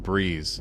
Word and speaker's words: Breeze: Create a Facebook ad for a soda alternative called Brez, pronounced Breeze. You all, I cannot stop talking about this drink. It's called Brez, spelled B E Z, but you say it like Breeze.